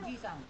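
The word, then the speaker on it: おじさん: Oh, Oji Sang. Hai, betul. J-nya pendek ya. Oji-sang. Artinya om. Kalau misalkan ini panjang, jadi apa dibacanya?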